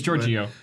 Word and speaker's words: Giorgio: don't even know how to pronounce his name. It's Giorgio.